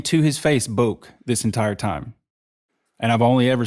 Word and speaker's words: Bouk: Dan, and then I'm going to say it's Bouk.